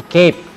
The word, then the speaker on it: cap: tahu tulisannya capek-capek cave bacanya bukan capek tapi kep bacanya keep nah ini biasa buat